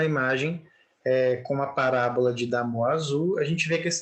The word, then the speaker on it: Damoiseau: É Damoiseau, né? Que é o nome francês lá, tá?